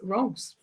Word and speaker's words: Reims: So yes, Reims. It is a very, very beautiful city, but it's also very exciting to be here for our Renny show.